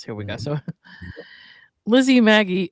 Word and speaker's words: Magie: went and looked up how do you pronounce uh M A GIE because I didn't want to pronounce it wrong and it says Maggie, but I don't know if it's French and the French version of it is maj and I did not want to be disrespectful to Lizzie, but I'm going to say Maggie because that's the American version of it according to,